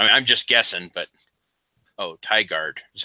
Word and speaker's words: Tigard: I mean, I'm just guessing, but Tigard is how it's said.